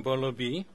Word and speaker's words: Bolo Bhi: Sana Saleem from Bolo B. Is that how to pronounce it? Okay. Or close enough. Or is it Bai? Bolo Bai? Bolo B. Okay.